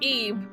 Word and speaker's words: Ib: um it's Japanese and the only way the letter i is pronounced in Japanese is is e yeah I mean that's